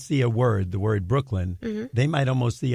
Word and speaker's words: Brooklyn: The O-O in Brook says because that's one of the sounds that vowel team makes. It's closed in by the K, so it says Brook. And then the L-Y-N, the Y is closed in by the N, and the Y is acting as a vowel in that syllable, and it says the short I sound of I.